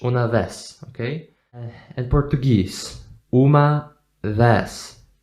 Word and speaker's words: vez: It's S. It's always S in Spanish. Una vez.